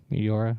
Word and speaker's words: Meteora: Meteora?